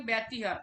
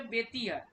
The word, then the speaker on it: ব্যতিহার: আচ্ছা, আমরা উচ্চারণ করি ব্যতিহার, একদমই ভুল উচ্চারণ, ওটার সঠিক উচ্চারণ হচ্ছে বেতিহার।